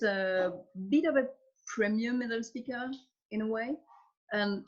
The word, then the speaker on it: Edelzwicker: The Edelzwicker, have I pronounced that correctly? Edelzwicker.